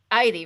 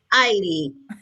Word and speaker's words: Eide: Heidi rhymes with Heidi. Heidi.